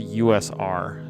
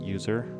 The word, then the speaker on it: usr: been fish so it's actually pronounced usr not user it stands for universal